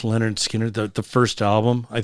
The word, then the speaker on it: Lynyrd Skynyrd: can find it on I think it's on pronounced Leonard Skinner the the first album I think they've got